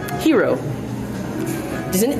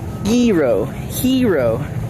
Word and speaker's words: gyro: Gyro, hero, like the G is silent.